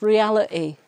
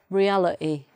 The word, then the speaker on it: reality: But that would be pronounced reality, reality, rather than reality. Okay, so that's the glottal stop replacing the T sound.